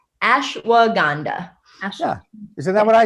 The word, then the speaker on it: ashwagandha: Because I've mispronounced it for like years. And it's ashwagandha.